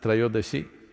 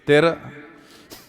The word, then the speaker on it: Trayodashi: It is Dhanavantari's Trayodashi. North Indian people must connect, don't go on clipping away one syllable and come Dhanavantari becomes Dhan, Trayodashi becomes Tera. Don't keep clipping it away.